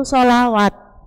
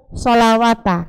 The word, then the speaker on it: sholawat: Sholawati, nah ini baru sholawat, bukan yang sholawata, ya. Karena apa? Karena yang ada fathah berdirinya lamnya apa wawunya? Wawunya, makanya bacanya sholawat.